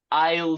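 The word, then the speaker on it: aisle: sorry aone uh yes Isle seat amazing Isle seat yeah that's actually an interesting one um because we can see that in terms of pronunciation the uh s is actually silent so we do write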